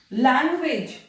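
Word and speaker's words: language: लैंग्वेज, एक ही word में दो जी आए हैं। एक जी ग साउंड करता है, एक ज। तो ऐसा क्यों? फिर दोनों जगह ज ही रहना चाहिए। जब जी यहां है और जी यहां है तो एक जी ग और एक ज।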